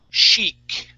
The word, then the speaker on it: chic: Okay, for women, when they are stylish and fashionable, we say chic. Okay, it looks like the word chick, but it's chic.